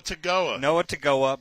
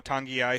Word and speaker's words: Togiai: big fans of Noah Togiai, who we referred to as Noah Togiai because it's a tough name and there's no N in the name and there's an N in the pronunciation.